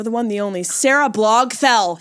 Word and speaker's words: Barthel: Give it up for the one, the only, Sarah Blogthell. Sarah Blogthell, you said it right. I believe that is the correct pronunciation. It is. It's Sarah Blogthell.